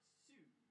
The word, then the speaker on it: Siu: You've got to elongate the U. Is it like shoe or see you? It's like sue. Sue. But you like say it really loud and like you extend. You just keep going with the ooh, do you?